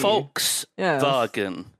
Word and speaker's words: Volkswagen: a VW yeah yeah Volkswagen VW Volks vagon is how it would be more iric vagen Volkswagen I mean that the V isn't quite like an F but it's close so